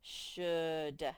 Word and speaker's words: should: large this says should the o and the l are silent the ou is making the uh sound should should what does that